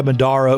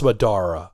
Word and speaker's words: Madara: they are confronted by Madara Uchiha. Madara? No man, it's Madara.